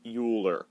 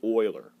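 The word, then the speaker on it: Euler: ending just like Oiler number e it's not pronounced uler it's Oiler okay so natural logarithms they have base e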